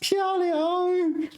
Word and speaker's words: 漂亮: So this is 4th tone, 漂亮. And maybe this is like HSK1 students are watching me going, Becky, it's pronounced 漂亮, 4th tone. And I'm like, oh yeah, all right. But it's also 3rd tone and 1st tone. In 漂浮, 1st tone. 飘然, 3rd tone. 漂亮, 4th tone. Very confusing.